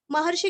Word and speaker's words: महर्षि: महर्षि का सिर्फ शी रस्व लेना है।